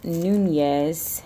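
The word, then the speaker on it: Núñez: Because my name is pronounced Nunez with the N-Y sound in Spanish.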